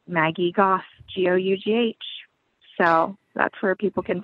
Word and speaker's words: Gough: So it's just like Maggie Gough, G-O-U-G-H. So that's where people can find me. And I was really struggling with your name before we met, but then you said rhymes with cough, and I got it.